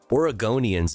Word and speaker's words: Oregonian: Oregonians is how you say it, right?